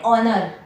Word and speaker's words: honor: An hour, an honor, an honest. આ બધામાં H silent છે એટલે આર્ટિકલ N યુઝ થાય.